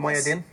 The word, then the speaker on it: Mohyeddin: Samira Mohyeddin, is that the right pronunciation, Mohyeddin?